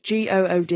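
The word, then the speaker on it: Goode: good I think or good it's g o o d e I don't know how you pronounce sounds like good if it's got an alien I think it's good um and she like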